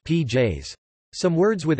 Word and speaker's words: pies: For example, pies, dog, is pronounced pj's.